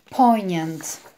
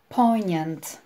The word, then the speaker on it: poignant: Dzisiaj natomiast będziemy się zajmować słówkiem, które wymawiamy poignant. Poignant.